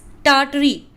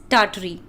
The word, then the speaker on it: Tartary: This is Tartary, Tartary, in which the first R is silent, Tar.